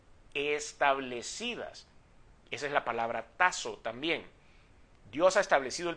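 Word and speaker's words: τάσσω: es una palabra que se pronuncia tazo con doble s y significa Designar arreglar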